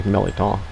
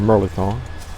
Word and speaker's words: mirliton: people have enjoyed hearing how people throughout south louisiana say melaton or merlithon a millitone so i'm trying to